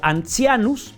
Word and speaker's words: antianus: Antianus o ancianus se pronuncia. Ancianus, se escribe antianus con t.